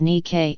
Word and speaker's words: Nikke: No sir, it's pronounced as Nikke and it's not about shoes and has nothing to do about shoes.